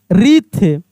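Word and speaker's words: wreath: रंग डब्ल्यू आर आर ई ए टी एच रीथ कैसे पढ़ेंगे?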